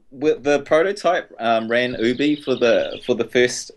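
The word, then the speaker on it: OOBY: pronouncation pronoun oh pronunciation it's Ubie OB um it's four O's and our by y so it's out of our own backyards oh all right cool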